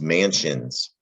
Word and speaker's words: mansion: does that do let's maybe it's psi on man scions but this is mansions root word mansion that's also a french